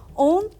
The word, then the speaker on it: ओम: ओम एक universal sound है जो कि अ, उ और मा से मिलकर बना होता है।